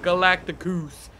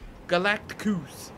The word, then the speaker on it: Galactus: Galactus. Galactus. Not Galactus, because Galactus sounds hella lame.